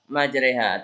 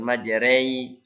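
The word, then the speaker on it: مجريها: Majre. Ingat kata kare, re, ya, atau sate, te. Bukan rei, tapi re. Nah, yang mana itu? Ini. Wa qala irkabu fiha bismillahi majreha wa mursaha. Majre, bukan majrei, tapi majre antara fathah dan kasrah ya.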